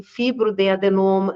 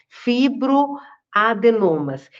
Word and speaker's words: fibroadenomas: Na verdade, muitas mulheres descobrem nódulos benignos ao longo da vida e existem cistos, existem fibrodadenoma, eh, desculpa, gente, eu pronunciei errado, fibroadenomas.